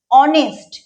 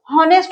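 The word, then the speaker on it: honest: কারণ হল এইযে দেখ আমি যখন উচ্চারণ করছি আমি বলছি কি অনেস্ট আমি কি বলছি যে অনেস্ট এই এসটি কি হওয়া দরকার তাহলে হনেস্ট হওয়া দরকার কিন্তু উচ্চারণ তো হনেস্ট হচ্ছে না এর উচ্চারণটা কি অনেস্টতো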